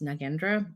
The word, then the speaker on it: Nagendra: my name is nendra also it's pronounced nagendra but I have been using both lately my name is